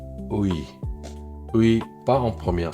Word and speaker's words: 의: On prononce i la seconde n'est pas en première donc I.